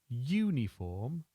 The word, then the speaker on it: Uniform: U, uniform, has two possible pronunciations. The first is uniform, that's uniform, or again, in those nations where the pronunciation of the U is difficult, the form of uniform or uniform may be used.